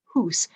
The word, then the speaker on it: house: The word house was originally hundreds of years ago pronounced hoose. It went from hoose to hoose, hearse, house.